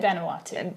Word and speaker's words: Vanuatu: In Vanuatu.